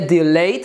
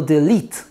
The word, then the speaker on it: delete: to przyciskiem Kasujemy tylko uwaga wymowa bo tam jest bardzo częsty problem w wymowie nie del tylko del wymowa jest del czy napisałem nieźle nie